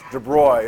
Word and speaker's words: de Broglie: Around 1930, a guy named Louis de Broglie, it's pronounced de Broglie, it looks like de Broglie, it's pronounced de